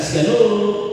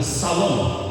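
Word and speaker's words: שלום: Ingat lagi, pengucapan kata salom tidak boleh siang, bukan shalom, tapi salom, esha.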